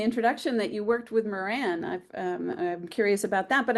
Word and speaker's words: Moran: So, by the way, you said Pat Moran. That's how you pronounce it.